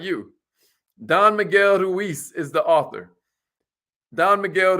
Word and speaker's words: Ruiz: Don Miguel Ruiz is the author. Don Miguel Ruiz, R-U-I-Z. Somebody spell that out for her.